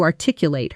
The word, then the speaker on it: articulate: Now naturally at native speed she struggled to articulate her frustration. Notice how the middle syllables blend together almost into our tick. You lit when spoken quickly with the stress landing hard on that second syllables.